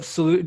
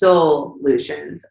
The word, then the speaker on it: Soulutions: It's kind of like fun when people realize, because like it's soul solutions. Like these are solutions for your soul, because it's not just about health and wellness.